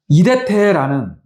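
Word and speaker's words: ἴδετε: 이대태라는 발음입니다.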